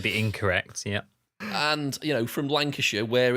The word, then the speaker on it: Lancashire: And Jamie did call it Brass Lancashire. Oh my God, some of their pronunciations are awful. Lancashire.